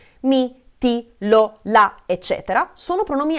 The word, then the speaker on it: mi: perché hanno l'accento quindi quando pronunciamo mi vedete non ha molta forza questa parola se invece di con me guardate innanzitutto come apro di più la bocca e come si sente di più l'accento in questo caso ok quindi